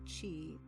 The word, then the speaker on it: Qi: this this specific energy which is called Chi than it is spelled Qi I'll get to some other